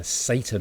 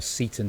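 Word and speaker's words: Seyton: this uh um servant uh Satan or Satan depending how you want to pronounce it.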